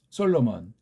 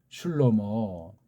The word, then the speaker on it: 솔로몬: 일본 소리를 솔로몬이라고 하잖아요 솔로몬 한글 소리로 그게 정문은 솔로모라고 그래요 술로 뭐 가장 정확한 발음이에요 구약의 한 사람 고유명사를 술로 뭐라고 해야 돼요 이걸 솔로몬 이건 우리 소리가 아니고 서양 어법의 일본 소리를시다 솔로몬은 우리 소리가 아니에요 이런 건 사람 이름이